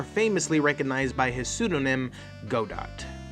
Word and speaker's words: Godot: recognized by his pseudonym godot or godot as i'm now learning is as actually how it's pronounced just take the [